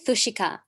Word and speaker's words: Fushika: do you say that you say it fushika is the easiest way to pronounce it okay all right well